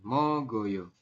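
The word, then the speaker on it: 먹어요: Mogoyo. Tulisannya mok oyo, tapi kita bacanya nanti mogoyo. Tulisannya meo, tapi dibacanya mo ya.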